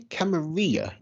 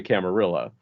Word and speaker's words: Camarilla: It is pronounced both ways. I say Camarilla because I come from a part of the country where there's a lot of Spanish speakers, and so I see a Spanish word like Camarilla, and it's like, okay, it's pronounced like tortilla, but some people say